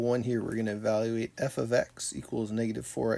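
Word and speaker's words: f(x): right for example one here we're gonna evaluate f of x equals negative four x plus seven when x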